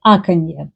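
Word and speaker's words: аканье: The most prominent feature of Moscow pronunciation is called like akanye. They say a lot of ah.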